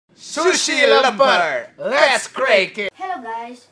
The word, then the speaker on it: lemper: Lemper. Indonesian people say lemper. The pronunciation is lemper.